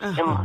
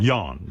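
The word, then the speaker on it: Jon: It's pronounced Yan. Yan.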